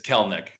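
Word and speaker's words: Kelenic: yeah he wants the he wants the world to know it's kel nick all right i just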